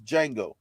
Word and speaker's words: Django: uh uh Quentin Tarantino told you that it's Django why are you so infatuated with the D though you don't need to say the D get the D out your mouth it's Django get the D out your mouth tell him